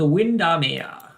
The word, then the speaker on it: Windermere: It is called Windermere. Right, let's see what I can do with this. I think it's actually. Oh, that's too big. It is pronounced like the British one.